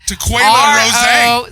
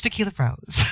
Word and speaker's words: Taquella Roze: Taquella Roze. Roze. Rose. Taquella Roze if you're nasty. But it's Tequila Rose.